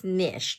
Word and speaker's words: niche: okay we're back so sa Niche it's nich niche Nish well Bala but I think the proper pronunciation is nishe so anyway again if